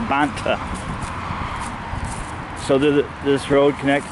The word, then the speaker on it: Banta: I keep pronouncing it wrong. It's Banta.